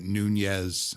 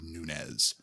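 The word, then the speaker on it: Nunes: radio keep pronouncing it Nunez yeah there's no tilde schwa door whether yeah and the last name actually is rooted in Portuguese so the PN would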